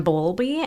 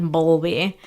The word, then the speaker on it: Bowlby: There were a lot of different researchers who worked on attachment theory, but some of the more prominent ones were John Bowlby and Mary Ainsworth.